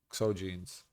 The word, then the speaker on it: XOGEANS: I mean jeans with the G instead of J is pronounced the same way though.